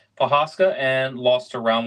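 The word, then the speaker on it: Procházka: Yuri Prochazka. That's right. Prochazka, and lost to round 1 knockout Pereira.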